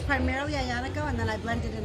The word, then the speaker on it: Aglianico: It's made out of a South Italy style grape called, phonetically it's Aglianico, but it's pronounced Ianico. And so it's primarily Ianico, and then I blended in a little Syrah.